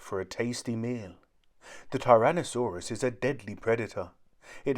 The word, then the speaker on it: tyrannosaurus: got its name how do you say it tyrannosaurus say tyrannosaurus on the beach on a sandy beach there